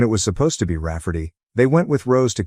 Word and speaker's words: Raferty: my sister wanting to name my niece Raferty, pronounced Rafferty and not at all like Rayardy.